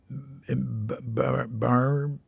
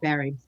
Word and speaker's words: Barre: Well, so after your 2 years in Barr, Massachusetts? Barry. Yeah. It's Barre, but it's pronounced Barry.